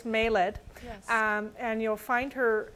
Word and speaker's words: Mayled: I have been pronouncing it the way that I hear her British accent, so it is Mayled.